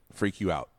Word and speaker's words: FreqOut: Freak You Out. But it's spelled like FREQOUT. Yeah, like Freak You Out. Free Q Out.